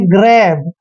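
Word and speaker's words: grab: देखिए जी आर ए बी इसको पढ़ते हैं ग्रैब इसमें भी एक चीज कॉमन है कि जी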